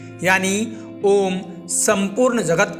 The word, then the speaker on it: ओम: ओम पवित्र ध्वनि है इसका उच्चारण करते समय तीन अक्षरों की ध्वनि निकलती है ये तीन अक्षर आ उ और मा है इन तीनों अक्षरों में